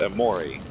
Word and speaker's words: Amore: Okay, it's spelled A Moore, but it's pronounced amori.